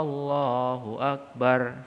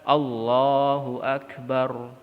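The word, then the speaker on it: Allahu akbar: itulah adanya meliuk-liuk eh Allohuakbar salah itu yang bener allahuakbar langsung disambung Allah Allohuakbar Allohuakbar the bar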